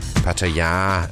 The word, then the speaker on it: Pattaya: Then you'd know why I'm here in Pattaya, or Pattaya as the locals say, and how I got fed up with